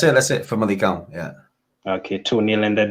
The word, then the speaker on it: Famalicão: Famalicão, or how do you pronounce it? That's it. Famalicão, yeah.